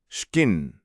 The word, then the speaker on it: skinn: The Vikings are coming, and they're not just bringing axes, they're bringing Old Norse, skinn, pronounced almost exactly as we say it now.